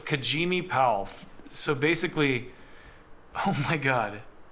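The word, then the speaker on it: Kajieme Powell: black females are also going through similar issues kajimi Powell I'm such an idiot kajim so it's kajimi pow so basically oh my God kajimi po so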